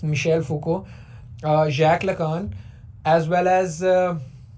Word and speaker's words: Michel Foucault: Simone day बोवेयर, मिशेल फूको, it's a French name, a lot of people pronounce it Michael Foucault, but it's Michel Foucault, Jacques Lacan, as well